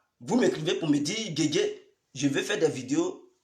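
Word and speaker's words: Djedje: Et vous écrivez Guégué à part. Guégué s'écrit comme vous le savez. D-J-E-D-J-E.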